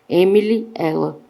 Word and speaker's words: Emily L.: O casal de ingleses, Emilielle, a letra L, em francês, pronuncia-se exatamente como o pronome singular feminino, ela. Emily, ela.